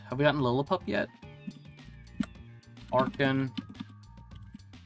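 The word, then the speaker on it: Archen: Arkin. I don't care if people pronounce it Archin. It's Arkin, like archaeology.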